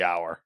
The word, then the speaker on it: hour: that because guess what it's pronounced it would be our that's true it would